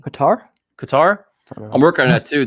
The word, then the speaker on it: Qatar: o michael and kate cater how do you spell that q-a-t-r cater is how you say it qatar i'm working on that